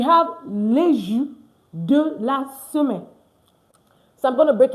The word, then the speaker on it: semaine: La semaine. Okay? Very simple. Don't say semaine. Don't say semaine. No. It's la semaine. La semaine.